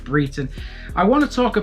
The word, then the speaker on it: Brayton: it's pronounced bobbith and brayton is actually pronounced breton i want to talk